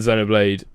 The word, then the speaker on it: Xenoblade: World of Warcraft Legion, which was meant to be phenomenal, and Xenoblade, is that how you say it? Yeah, Xenoblade Xeno- Chronicles X on yeah.